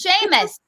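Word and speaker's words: Seamus: yeah that's so yeah it's sheamus you're from new york you should know how to pronounce these irish names is sheamus sheamus well they should all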